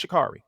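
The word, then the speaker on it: Sha'Carri: Is it Shakary or Shakari? It's Shakari.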